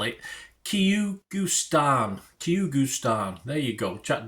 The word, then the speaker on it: Kyrgyzstan: to pronounce it, because I certainly struggled to spell it. Kyrgyzstan.